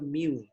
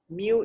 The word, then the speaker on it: mu: And if we talk about the average, okay, the population we use what we call as a mu. Okay, mu is pronounced as M-I-U.